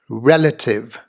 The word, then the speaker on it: relative: here on the screen the emphasis on the first syllable of this three syllable words a relative non-competitive native